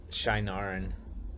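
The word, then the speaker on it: Shienaran: bunch of other um shannaran how did you pronounce that again shinaran shinar and shinar and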